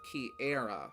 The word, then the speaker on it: Kiara: because you're you're you it's pronounced key era right I first thought it was Kiara from when I first